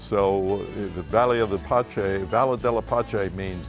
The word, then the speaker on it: Pace: the bella de la pache vineyards and winery and the p-a-c-e is uh pronounced pache because it's valadella pache it's italian it's you know we're